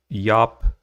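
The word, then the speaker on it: Jaap: history of EX Jesus by Yap doans uh but it's spelled j AAP I'll bring up the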